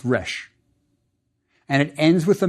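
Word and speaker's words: rš: Then we recognize an old friend, the word for rejoice, pronounced resh.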